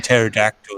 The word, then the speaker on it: pterodactyl: Oh no, the P in pterodactyl is silent. You don't hear it till it hits you in the head. Oh, so I play Ark, and everybody in that damn game will be like, the pterodactyl. No. Or Yeah, I don't know why they do that. I'm like, that's not how you say that. That's P and is silent.